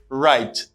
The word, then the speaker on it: write: homophone is right right it has the same pronunciation of this right this w doesn't pronounce right right you get